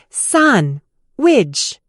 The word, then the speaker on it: sandwich: Consonants can vanish to sandwich often loses the dead and becomes sun, witch, and words link together.